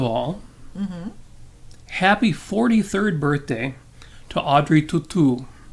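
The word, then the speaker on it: Audrey Tautou: happy 43rd birthday to audrey tutu or as americans say audrey tattoo audrey chateau to tell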